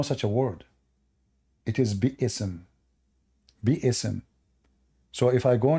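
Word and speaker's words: بسم: This is the correct way to say Bi-ism. There's no Bism.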